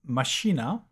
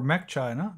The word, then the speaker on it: macchina: So let's look at Machina or Mac China depends on how you want to pronounce it.